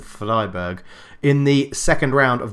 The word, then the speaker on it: Freiburg: And we've been drawn against Freiburg, I think is how you pronounce it, Freiburg, in the second round of the German Cup after the 8-0 hammering of Hamburg.